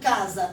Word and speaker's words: casa: Na palavra casa e na palavra coça, a mesma coisa. As duas estão terminando com a mesma sílaba. Porém, em casa o S tem som de Z. Casa.